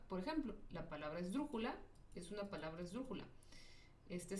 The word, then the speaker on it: esdrújula: Ahora, las esdrújulas se acentúan cuando terminan, no, siempre se acentúan y en este caso su sílaba tónica está en la antepenúltima sílaba. Por ejemplo, la palabra esdrújula es una palabra esdrújula.